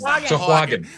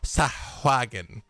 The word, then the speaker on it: Sahuagin: Sahuagin. Which honestly, that is how it's spelled if you look at it, and I still find a way to do not that. Sahuagin.